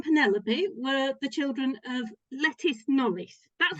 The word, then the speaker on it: Lettice: So Robert and Penelope were the children of Lettice Knollys. That's how I pronounced it. It's just Some such a people great pronounce it lettuce, but I always think of a lettuce.